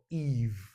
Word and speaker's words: Eve: If there is a word like EV, that would have been F, but with the magic E, we've got Eve.